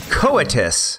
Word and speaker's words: coitus: So they're saying it's coitus.